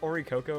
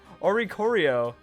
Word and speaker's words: Oricorio: If another Pokemon in the field uses a dancing move, then Oricorio, did I call it Oricoco or something? Oricorio. That's so hard to pronounce.